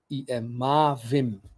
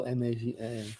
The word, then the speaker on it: Mavim: Yeah, M-A-V-I-V-I-M, Mavim. Yeah. Did I do it right? M-A-V-I-M. Oh, M-A-V-I-M.